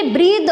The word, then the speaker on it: breathe: बट इधर यहाँ पर यदि ये ई लग गया है तो यहाँ ये ब्रीद हो जाता है, यानी सांस लेना.